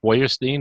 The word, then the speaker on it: Feuerstein: And they pronounce it how my father pronounced it, Feuerstein, and that's how it stays.